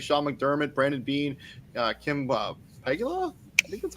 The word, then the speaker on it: Pegula: Sean McDermott, Brandon Bean, Kim Pegula, I think that's how it's pronounced. She's the team president. Also, thoughts and prayers to her. She suffered a cardiac arrest. Yeah, Pagula, thank you.